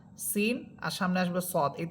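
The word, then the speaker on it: سين: Scene এর মাখরাজ হচ্ছে জিহ্বার অগ্রভাগ সামনের নিচের দুই দাতের আগের সাথে লাগবে। যেটা যা হরফের মাখরাজটা ছিল। আর যা হরফ যা সিন আর সামনে আসবে সদ।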